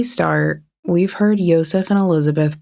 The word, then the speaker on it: Elisabeth: So we're going to try and keep it as close to origins as possible, and we think it's pronounced Josef and Elisabeth.